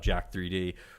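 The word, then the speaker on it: Jack3d: would really talk about Jack 3D or Jacked. Depends on what part of the country you're from. They either pronounce the 3 as an E. So it's either Jacked or Jack 3D.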